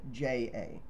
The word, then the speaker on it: Hezonja: It could be Ya, because sometimes the foreign names with the J. Yeah, Hezonja. It's Hezonja.